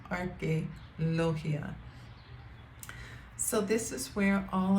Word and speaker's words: Arqueología: Museo de Arqueología, that's how you pronounce it, Arqueología.